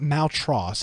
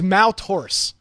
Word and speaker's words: Maltaurus: It's not Maltros. It's he gave us the correct. It's Mal. Pronunciation. Oh crap! It's Maltaurus. I believe is how it's supposed to be.